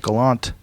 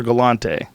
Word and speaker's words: Galante: So my friend Forrest Gallant. Is it Gallant or Galante? I would go with that E. Gotta Galante. pronounce that.